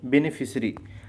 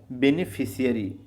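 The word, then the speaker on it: beneficiary: लेकिन बेनिफिशरी केवल आप अगर बोलते हो। ठीक है तो सी आई आर वाई लिख दोगे लेकिन आपको जो रटना है वो क्या है बेनिफिशियरी ठीक है ए भी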